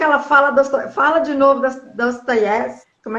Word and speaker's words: Dostoiévski: É porque assim, o O em russo, ele só tem o som de O quando ele é tônico. Quando ele não é tônico, ele tem a pronúncia de A. Então, para nós é Dostoiévski, mas para o russo é Dostoiévski, porque nem, é no E, que é a tônica, não é no O, então é Dostoiévski.